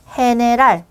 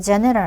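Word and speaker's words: general: 히따노 히로 쓰여지는 거 그다음에 해네랄 해. 우리 알파벳 할 때 연습 문제 풀 때 나왔던 단어잖아요. 그때 해랄 어 왜 제럴 아니고 해랄 발음 흐 발음이니까 요렇게 해로 쓰게 되더라까지 알고 계기가 없어요.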